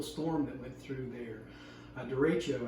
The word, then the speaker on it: derecho: Derecho, I think is how you say it.